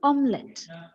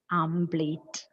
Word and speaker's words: omelette: look at the sybols it is omelet and what is the mispronunciation amate m okay we call it asate plate what is the real